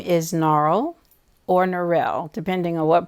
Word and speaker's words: Norrell: My name is Norrell, as it's pronounced in Richmond. There's a school here named for our grandfather, Albert Norrell, elementary school that generations of children went to. However, when you leave Richmond, it's pronounced as it's spelled, which is Norrell.